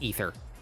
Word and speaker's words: aether: So I know we They all use say that in say aether. It's just ether. It's pronounced ether.